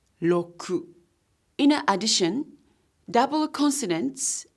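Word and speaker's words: ろく: is pronounced as lingo the number six is Roku but it's pronounced as low crew in an addition double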